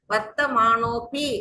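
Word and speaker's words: वर्तमानोऽपि: அந்த இடத்துல வர்த்தமானோபி அப்படின்னு படிக்கணும். வர்த்தமானா அப்பின்னு படிக்க கூடாது.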